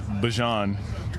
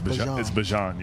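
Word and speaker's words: Bijan: How you pronounce my name is Bjon for everybody that's that's out there. Um, I know a lot of people say Bjon, but it's Bjon.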